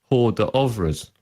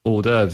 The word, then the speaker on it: hors d'oeuvres: like to order this stuff from the menu, hors d'oeuvres.